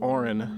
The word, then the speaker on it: Orin: And I said Orin, not porn, in case somebody thought I said that.